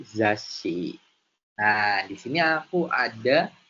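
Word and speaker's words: ざっし: Jadi, ada huruf za-nya tadi intinya, dan kita membacanya double S. Jadi, zash, si. Lalu dilanjut ke huruf selanjutnya, yaitu kan tadi ada shi, jadi zashi.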